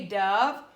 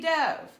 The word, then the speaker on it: dove: The word dove has 2 pronunciations and 2 meanings. It could be dove or it could be dove.